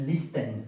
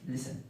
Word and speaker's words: listen: como listen, escuchar, listen, la t es silenciosa y listen, no es listen, es listen.